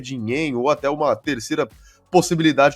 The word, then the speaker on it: Dinenno: Pelo que eu vi lá, o certo é de Neno e é mais fácil também de pronunciar, então eu vou ficar no de Neno, viu?